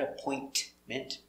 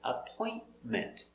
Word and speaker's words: appointment: vow and appointment now this t is not pronounced clearly not appointment but appointment appointment so i call